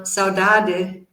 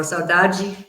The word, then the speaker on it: saudade: Like, for example, the Portuguese word saudade in European Portuguese pronunciation, or saudade Brazilian, it means something like